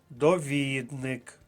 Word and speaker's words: довідник: Записати собі в словничок довник наголос на другому складі друга колонка довідник наприклад довідник з правопису